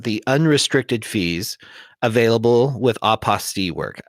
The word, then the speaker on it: apostille: unrestricted fees available with opposite work i had to call it opposite otherwise it doesn't rhyme with unrestricted fees but i know you call it oppa steele and i we're going